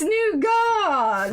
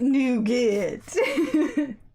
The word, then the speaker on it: nougat: it wrong it's leviosa it's new god not nougat i can't help it